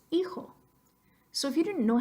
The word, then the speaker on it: hijo: Phonetically speaking, I-X-O says hijo.